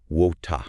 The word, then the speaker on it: water: In British English, it often sounds more like water. What? Yeah, with a softer R sound. Or even a dropped R sound at the end. In American English, it's typically pronounced with clearer R sound. Water. Water, yeah. Okay. And in Australian English, it might sound more like wota. Wota. Yeah. Okay. With a broader vowel sound.